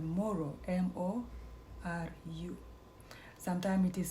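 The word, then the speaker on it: Moru: The tribe is called Moro, M-O-R-U. Sometimes it is spelled M-U-R-U.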